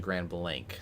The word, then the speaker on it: Grand Blanc: Also pronunciation wise I guess new Lothrop is actually New Lo W and Caleb Grand Blanc is actually Grand Blank.